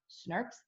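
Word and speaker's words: snRNP: proteins to form Snopes this is literally pronounced snarks snips are really important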